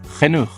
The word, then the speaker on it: genoeg: Genoeg. The G comes back and the last G is pronounced, whereas in English it's not.